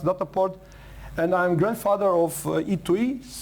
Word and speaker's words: Dataport: It's actually is not English it's not English pronounced, it's German pronounced Dataport.